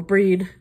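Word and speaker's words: Brigid: at different times so Bridgette or breed if you want to do the fancy probably more accurate pronunciation boy am i glad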